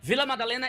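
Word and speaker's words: Vila Madalena: Villa Madalena. Almost. How do I say? Villa Madalena is right. V Villa Madalena is perfect, but the state is SO.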